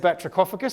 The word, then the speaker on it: batrachophagus: What if I told you this word comes from the Greek language? So what does that tell you about how the CH will be pronounced? It's a K, because in the Greek background words in English, CH represents a K.